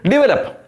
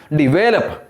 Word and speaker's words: develop: mispronounce it we say develop no develop second syllable should be given the stress second syllable is the